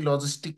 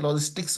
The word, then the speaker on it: logistic: রিগ্রেশনে আসার পরে দেখেন যে এখানে বাইনারি লজিস্টিক লেখা আছে। অনেকে এটাকে লজিস্টিক্স উচ্চারণ করেন, এটা লজিস্টিক্স না, এটার সঠিক উচ্চারণ হচ্ছে লজিস্টিক।